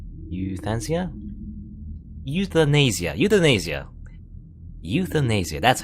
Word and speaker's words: euthanasia: say that mmm you thanks yeah euthanasia euthanasia euthanasia that's how you pronounce it anyway if you know pain and